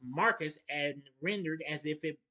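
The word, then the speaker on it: Marquess: portion is of his name is pronounced Marcus and rendered as if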